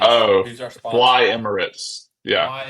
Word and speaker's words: Emirates: Emirates. Yeah. Fly Emirates. I cannot say this word. I want to say emeritus, whatever. Emirates. So Fly Emirates.